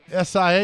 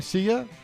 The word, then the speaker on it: Sia: S-I-A. Is that how you say her name? Sia? Like Sia. See you later.